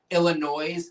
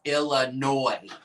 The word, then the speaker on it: Illinois: Illinois? No, it's Illinois.